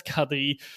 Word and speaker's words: K3: Belgium for mainly for children which is called Kadri. So like with K3 that is actually but okay pronounced in Dutch as Kadi very similar to to to Adel Kad's last name of course.